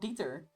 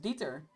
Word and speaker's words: Dieter: They're called Dieter, which is pronounced Dieter when people English speaking pronounces it Diet. Oh, diet.